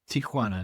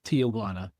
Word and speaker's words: Tijuana: the Tijuana area, and the proper pronunciation is Tijuana, not Tijuana. You're not from Texas.